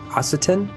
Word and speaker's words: Occitan: its use of an ancient, I can't even pronounce this word, ancient Occitan language. Occitan.